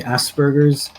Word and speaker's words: Asperger's: I think it is supposed to be Asperger's, with a P instead of B, as I now recall seeing Cartman putting hamburgers down in his pants.